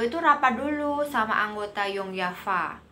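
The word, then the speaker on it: Jong Java: Nah, sebelum beliau berangkat ke Bandung, beliau itu rapat dulu sama anggota Yongyafa. Tulisannya Jongjava, itu bacanya Yongyafa ya, karena orang Belanda itu baca J itu Y gitu.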